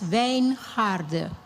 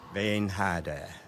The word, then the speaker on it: Wijngaarde: My name is pronounced as Wijngaarde. Wijngaarde.